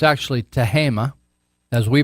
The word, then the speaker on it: Tehama: It's actually Tehama, as we pronounce it, although it looks like it should be pronounced Tehama. But it's Tehama County.